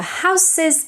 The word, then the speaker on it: houses: face says red the houses big house ends in a voiceless s house however when you make the Perl it becomes voiced actually houses but if it's just one house then it's still voiceless